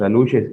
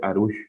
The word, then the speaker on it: arush: Y en esta conferencia él hacía alusión a los aluches, o decía que es mal la pronunciación, que de hecho el correcto debería ser arush, con una R.